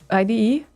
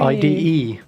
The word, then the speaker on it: IDE: card the ide okay how do you pronounce that i'm sorry ide ide yes what is what i said oh you said id no i didn't say i see i said exactly that's my point ide yes now you